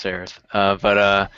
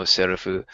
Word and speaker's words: Seraph: I don't know how you guys pronounced it, but it's actually pronounced Seraph. Or in Japanese, Owari no Serafu.